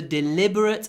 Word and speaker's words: deliberate: adjective it was a deliberate attempt to deceive me deliberately deliberate hold the L liberate okay 65 she didn't